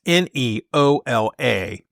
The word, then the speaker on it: Neola: this consulting group called, I believe they pronounce it Neola. It's Neola. And what they do is they assist school boards in developing policies.